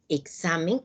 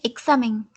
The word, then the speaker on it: examen: entonces como pueden observar la mayor fuerza de voz recae en la penúltima sílaba y al terminar en